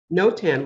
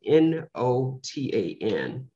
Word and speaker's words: notan: seen in the program no tan which is spelled n-o-t-a-n with an accent over and over that looks like the long sound uh and i can't